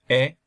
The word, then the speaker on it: he: Mis padres dicen que, my parents say that, siempre he soñado con. So this is you don't pronounce the H, so it's not he.